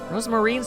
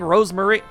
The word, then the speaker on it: Rosemarine: It's not even a full extra syllable. It's just a single letter. It's fate, please. All right, whatever. Oh, you just need to add the M. Rosemarine. You've just been saying Rosemary.